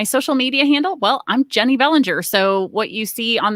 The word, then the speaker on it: Jennie Bellinger: so uh my my social media handles are jenny bellinger and that's j-e-n-n-i-e jenny uh j-e-n-n-i-e bellinger b-e-l-l-i-n-g-e-r